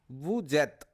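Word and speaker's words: vous êtes: व जेत देखिए यहां पर व की जो स्पेलिंग है वी ओ यू एस है लास्ट में एस है और जो एथ जो यूज़ हो रहा है ई टी ई एस इसमें ई से स्टार्ट हो रहा है तो व का एस और एत का ई मिलके यहां पे क्या बन जाएगा जे तो यह इसका प्रोनाउंस क्या बन जाएगा व जेत यह व जेत मींस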